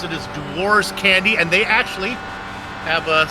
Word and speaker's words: Dewar's: It's made it clear to me it is pronounced Dewar's. It is Dewar's Candy, and they actually have sent many a GSRC.